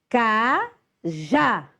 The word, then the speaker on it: cajá: Cajá. Então, o já é a sílaba mais forte.